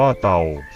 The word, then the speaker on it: เทา: กล้วย วัน ศุกร์ ไม่ ฉัน เทา อ่าน ว่า เตา สาหร่าย น้ำ จืด ชนิด